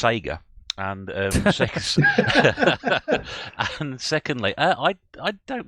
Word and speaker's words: Sega: Well, I think you'll first find it pronounced Sega.